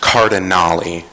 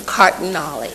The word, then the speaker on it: Cardinale: for the second time my last name is pronounced cardinal I apologize Mr cardali thank you um hi